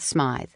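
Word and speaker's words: Smythe: Hollingsworth Smay, which rhymed with tithe with a long I and a silent e, and her daughter, Dodie Cucharsski.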